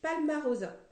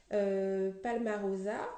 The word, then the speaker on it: Palmarosa: Alors, la première huile essentielle, donc c'est Palmarosa. Palmarosa, comme ça se prononce.